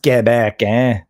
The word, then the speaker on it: Quebec: sounds funny to say you think it would be quick Quebec it's pronounced Quebec it goes to the Tabernacle